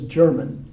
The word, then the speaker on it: Germain: and by the way the English usually pronounce it as German but that's St germain's